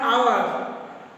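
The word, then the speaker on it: hour: An honest boy, অ্যান আওয়ার, এগুলোর আগে আমরা এন দিয়েছি কারণ এইচের উচ্চারণ হ হচ্ছে না।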